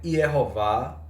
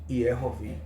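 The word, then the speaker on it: יְהֹוָה: Então, irmãos, eu acabei de mostrar, vocês viram aqui o texto que eu coloquei, que a pronúncia maçorética é Yehová e em algumas vezes Yehovi.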